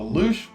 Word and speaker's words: louche: So let's just hear how we say that one. Louche. Yeah, louche. Louche. And that is something that is disreputable or sordid in a rakish or appealing way.